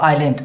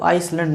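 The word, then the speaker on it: Ireland: नाम of group of आयरलैंड अब इसका तो प्रनंसीएशन है वो आइसलैंड नहीं होता ठीक है ना इसका क्या होता आयरलैंड ठीक है ये क्या है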